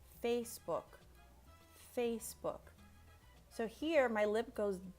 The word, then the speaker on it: Facebook: K, por decir en Facebook. So in English, you really want to make sure that you pronounce, you enunciate the k at the end.